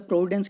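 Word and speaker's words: providence: अब देखिए प्रोविडेंस, प्रोविडेंस क्या मतलब, प्रोविडेंस क्या होता है, प्रोविडेंस में यार एस साइलेंट नहीं है, एस आएगा यहाँ पे, तो यहाँ बीच में क्या आएगा, एस, प्रोविडेंस हो जाएगा।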